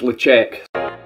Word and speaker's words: Ledaig: Lagoon's with an L no it's not locked woman it's uh it's lecheck so we've got our 12 year old um logic that's how I'm pronouncing it if anybody wants